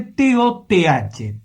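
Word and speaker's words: Toth: Entre esa gente que trajo de afuera, precisamente de la Mesopotamia asiática, trajo a un caballero llamado Tot, que se escribe T-O-T-H, Tot.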